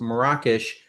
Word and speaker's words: Marrakesh: And now that I know that this is supposed to be pronounced Marrakesh, it's hard for me to count call it Marrakech.